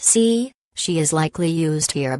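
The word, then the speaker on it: 四: Note, although Four in Chinese is pronounced Si, she is likely used here because Si does not sound as good.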